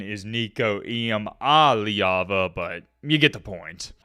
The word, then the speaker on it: Nico Iamaleava: The correct pronunciation is Nico Iamaleava, but you get the point.